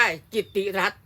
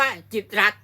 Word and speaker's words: กิตติ์รัฐ: ฟัง ให้ ดี นะ ถ้า ไม่ มี มธน ฆาต ต้อง อ่าน ว่า จิตติรัตน์ แต่ ถ้า มี ธน ฆาต ตัว นี้ ตัว ติ เนี่ย จะ ถูก ฆ่า เสียง เมื่อ ถูก ฆ่า เสียง ก็ ต้อง อ่าน ว่า จิต รั ต้อง อ่าน ว่า จิต รัฐ นะ ส่วน สื่อ มล